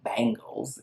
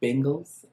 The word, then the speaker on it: Bengals: of me and says it's not the bangles it's the bengals bengals i don't know